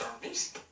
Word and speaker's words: Hermes: Now, John, Hermes, pronounced Hermes, is the messenger of the gods in Greek mythology, as well as a guide to the underworld.